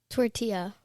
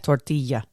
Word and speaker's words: tortilla: Tortilla. Tortilla. No. Tortilla. Listen, I speak Spanish. The double L sound in Spanish is a y sound. Okay. Tortilla.